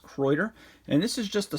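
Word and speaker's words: Kraeuter: and people love croiter i always have a tendency to want to call them crowder but they're i believe it's pronounced croiter and this is just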